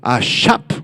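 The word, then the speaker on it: אשף: ahora bien un encantador esta palabra proviene del hebreo ashap con acento en la a ashap se refiere a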